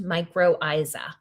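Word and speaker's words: mycorrhiza: The word for this symbiotic, beautiful, and mutually beneficial relationship is microisa. Very hard to spell, but it's pronounced microisa.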